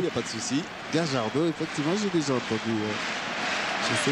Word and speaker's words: Gallardo: On prononce Gajardo en argentin. Gajardo, mais comme nous sommes en France, je vais rester à Gallardo.